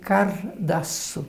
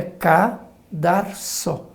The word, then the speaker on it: cadarço: a gente ouvir esse cardaço, né, cardaço. E de verdade não é esta a palavra, né? A palavra correta é esse R lá depois, né? Não é logo na segunda sílaba. Portanto, é cadarço.